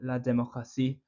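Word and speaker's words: démocratie: note for La democracy although we say it the same in a similar way to English democracy and La democracy is spelled with a t instead of a c so spelled D e m o c r a t IE there's no um there's not a second C in La democra has a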